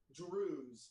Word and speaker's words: Druuz: Druze. So there's no I can only spell it phonetically because obviously as people don't use English characters, but I've been spelling it Druuz.